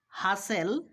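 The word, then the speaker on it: hustle: দেখো লিসেন হেইসেন ফাসেন চলো আমরা আরো তিনটা উদাহরণ ফলো করি হাসেল রাসেল রাসেল দেখো তিনটা উদাহরণের মধ্যে আমরা এসটি এল খুঁজে পাচ্ছি সেইজন্য এখানে আমরা টি এর উচ্চারণ করিনি টি সাইলেন্ট রেখেছি তো কথাটা খেয়াল রাখতে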